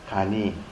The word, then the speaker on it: 간이: 그래서 변하는 세계와 변하지 않는 세계를 알게 되면, 변력과 불력을 알게 되면 그 사람의 삶은 간단할 간자, 이때는 같은 글자를 역을 써도 발음은 역이라고 하지 않고 이라고 합니다. 간이.